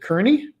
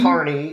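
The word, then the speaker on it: Kearney: that first leg from no is it cerney Kerney yep car Carney is how pronounced but to toir oh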